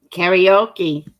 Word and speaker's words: karaoke: karaoke karaoke yay oh it's saying say ow instead of your but remember this is american karaoke karaoke i want to do the british karaoke it's funny as soon as i pronounce it in the british way karaoke sorry you're josie i'll just take a screenshot of that so i was pronouncing it the english way not the american way anyone up for some